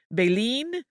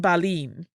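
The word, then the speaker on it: Beilin: to journalists and biographers Berlin's descendants have also used two slightly different pronunciations of the Family's last name baleen and Balin yes they're very similar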